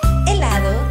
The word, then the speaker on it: helado: y gelatina también helado helado se escribe con h lo que pasa es que es muda la letra de INE